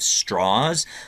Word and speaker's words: Strauss: up mostly in Virginia that's the reason for this pronunciation of straws um he was a